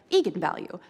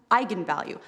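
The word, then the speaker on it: eigenvalue: that I wasn't quite sure on how to pronounce it looked to me like Egan value so right I mean I think that's what you would think Egan value so I asked is it is this how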